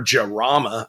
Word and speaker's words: Jarama: I mean, sure, everybody knows the Countach, but I have a Lamborghini Jarma over there, or Jarama, I believe is how it's pronounced.